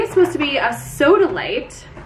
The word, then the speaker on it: sodalite: supposed to be a soda light soda light it sounds like a soda the light version but it's spelled s-o-d-a-l-i-t-e i have it up